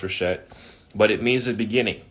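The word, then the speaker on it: ראשית: It's either Reshet, pronounced Reshet, but it means the beginning or the first fruits.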